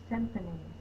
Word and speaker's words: symphony: Sym-pho-ny. We've got 3 vowel sounds. Sim, S-Y-M. The Y is saying the short I sound. Pho, P-H-O, like phone, but it's pho because the last syllable is me. Y at the end of a base word can say the long E sound.